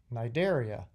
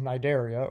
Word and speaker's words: Cnidaria: the ocean is called the C is silent because I want to talk about one of my favorite phyla the phylum Cnidaria and as you can hear the sea is silent the phylum Cnidaria or more commonly than